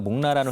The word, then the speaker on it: 목나: 몰라 뭐 이렇게 이런 목나라는 회사 네. 이름이 어렵네요. 그래서 몬나라고 돼 있네요. 예, 목나 이게 이름이 목나라고 읽더라고요. 그래서 여기에 대한 지분 계약 체계를 위해서 외부 평가를 등을 위한 이제 그 MOU를 맺은 거고요.